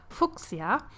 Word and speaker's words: Fuchsia: In Germany, we have the same word, and it's pronounced Fuchsia, which I kind of like too, so you can go with either of the pronunciation, and I think it really fits her well.